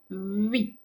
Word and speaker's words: oui: So you have your lips round tightly as if to say u, u, but then pronounce the e. Oui, oui. So it's kind of two sounds in one.